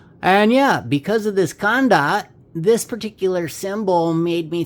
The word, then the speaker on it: Khanda: And this Kandar, let me see if I'm pronouncing that right. Khanda. Sorry, this Khanda.